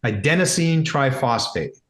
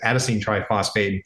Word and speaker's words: adenosine triphosphate: The other thing is, and I got attacked the other day because I pronounced wrong. Adenosine triphosphate. Hopefully I said it correct that time. I said adsine triphosphate.